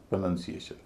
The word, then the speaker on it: pronunciation: प्रोनाउंस प्रोनंसिएशन।